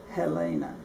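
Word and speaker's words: Helene: And one of Mother's sisters was named for her, and they pronounced her name as Helena.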